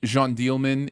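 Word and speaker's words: Jeanne Dielman: bunch of English words run together really fast Jean dealman is the name uh and it's uh j-e-a-n-n-e-d-i-e-l-m-a-n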